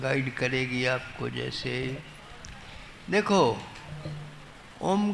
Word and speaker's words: ओम: का उच्चारण करते हैं ओम शब्द तीन अक्षरों से बना है अ उ म तो हम इसका उच्चारण जब ठीक से करते हैं तो मुह पर होठ बंद हो जाती है और म उसको मिला करर के संधि हो जाती है तो अ उ का ओ बन जाता है और साथ म मिल गया तो ओम तो उसका उच्चारण कैसे